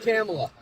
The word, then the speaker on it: Kamala: Comma, like comma in a sentence. La is in la la la la la. It's really not hard. It comes out Kamala. I'm from I'm close to New York. No, pronunciations isn't necessarily an accent thing. Kamala. If you can literally say comma and you can say la, you can say Kamala.